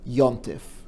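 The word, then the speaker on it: יום־טובֿ: word for a holiday comes from hebrew yom tov but it's pronounced in yiddish like yantif and her birthday is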